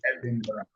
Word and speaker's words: Edinburgh: The word is spelled Edinburgh, but it's pronounced Edinburgh.